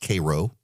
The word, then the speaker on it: Cairo: It's pronounced Cairo.